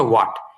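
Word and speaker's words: what: আচ্ছা, এটা উচ্চারণ হচ্ছে ওয়াট, এটার এইচটা উচ্চারণে আসে না, এটা পড়ার সামনে আছে আমাদের।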